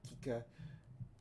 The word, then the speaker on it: Kika: Yeah, it's like that's how they pronounce it, like Kika.